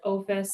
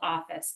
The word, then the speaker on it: OFIS: I pronounce it OFIS. Some people call it Office. It's OFIS.